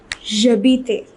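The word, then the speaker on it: j'habite: H it is pronounced the H is silent therefore this would be jabite the E would be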